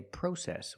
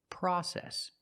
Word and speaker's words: process: In America, we don't say process, we say process.